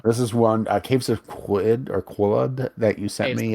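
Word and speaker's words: Qud: This is one Caves of Quid that you sent Caves me. of Cud. Yeah. Cud. At least that's how I've heard it pronounced.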